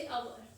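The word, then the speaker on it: hour: यहाँ पे है, जैसे अवर, इसको हम रीड करते हैं अवर, इसको रीड करते हैं हम ऑनेस्टी। यहाँ पे क्या है, इन वर्ड्स दोनों स्पेलिंग्स में एच साइलेंट होता है, इसमें हम अवर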